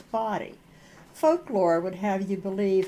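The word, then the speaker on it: Bodie: While some pronounce the name with a long O sound, it is traditionally pronounced as body.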